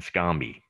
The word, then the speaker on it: Anscombe: e o b there it is a-n-s-c-o-m-e and scomby so if you google anscombe dataset uh there's